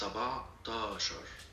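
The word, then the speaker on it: سبعتاشر: 17 Okay, is you need it- to work on this R that you squeeze in the middle of the last syllabus. I mean the syllable of the word. It's sabatashar.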